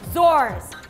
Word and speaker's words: zorse: baby is called Tama si Chu Chai girl zor and it's spelled Z o r s e galing galing